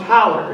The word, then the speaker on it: hollow: It's spelled hollow, but it's pronounced holler.